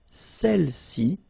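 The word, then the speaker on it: celles: all right feminine plural celi okay don't pronounce the final s Cel s all right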